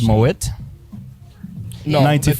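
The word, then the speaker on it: Moët: I liked how you said Moet. No, 90 the T Moet. is silent.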